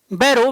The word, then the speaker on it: Burrough: बस एक लाइन लिख लो कि मेजर बैरो BURROUGH, बैरो का स्पेलिंग है BURROUGH, हिंदी में बैरो, बी ब ऊपर दुल्ले आर आकार इकले हिंदी में तो ऐसा ही लिखता है बैरो, है ना।